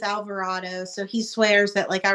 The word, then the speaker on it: Alvarado: So my husband jokes and swears that because there's a line in there that says "Damn you, Colorado," and of course Colorado rhymes with Alvarado, so he swears that I wrote that song about him, and I was like, no, I did not.